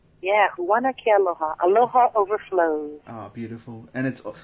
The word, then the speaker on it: Huana Ke Aloha: I'm gonna attempt right now to pronounce the name of your album. It's Huana Ke Aloha. Is that right? Yeah, Huana Ke Aloha.